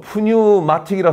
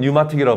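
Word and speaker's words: pneumatic: 영어로 푸뉴마틱이라 쓰고 발음은 뉴마틱이라고 발음하죠.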